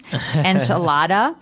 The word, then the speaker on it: enchilada: say the American pronunciation, enchilada, and you're going to hear Marco say a more appropriate. A little bit with a more Hispanic accent to it.